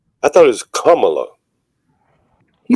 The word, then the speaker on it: Kamala: I thought it was Kamala. He said it wrong. Yeah, one lady told me how to pronounce it was like comma with a la.